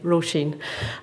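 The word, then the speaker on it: Róisín: of my name it's an Irish name ro Sheen and the the second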